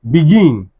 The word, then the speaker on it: begin: Begin. Be gin. Because it is the second syllable, it will now be what? Be gin.